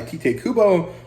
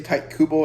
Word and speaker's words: Tite Kubo: of weird to say tight Kubo it doesn't really sound like a Japanese pronunciation uh because usually unless it's in the middle of the word the vowel is pronounced at least that's what